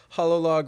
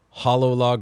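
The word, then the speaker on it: Hololog: Smoke in the Water, Hollow Log Records, and that's spelled like H O L O L O G. Okay, like hologram or something.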